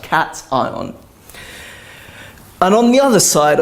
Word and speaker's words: cation: to call it a cat ion okay some people who aren't native English speakers might pronounce education because that tion sounds like Sean by it's pronounced cat eye on and on the other